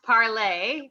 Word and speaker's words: Parler: Okay, so Parlor, Parler. It's pronounced parlay because it's Parlay. in French.